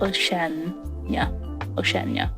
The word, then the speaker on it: Oceania: How do you pronounce that? Oh, there's an IA, so it's Oceania.